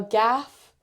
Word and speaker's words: GAF: Gaff is g a f. That's how it's spelled and we pronounce it gaff.